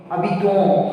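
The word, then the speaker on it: habitons: Abiton. Why? Because s is silent and o n will make nasal vowel sound o.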